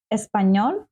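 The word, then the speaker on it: español: а іспаночка с паньйора звертаємо увагу я вам підкреслила тут літеру з хвилкою вгорі е N - це означає що вона читається як з м'яким знаком ні еспаньйон еспаньйола Я з України а ти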